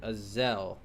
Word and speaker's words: Azelle: Azelle. E silent, I'm hoping.